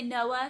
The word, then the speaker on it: Noah: with hall noah hall there's a pause there when you say noah it's small but it's there noah you have to like kind of pause in the middle to get the other syllable out and i just don't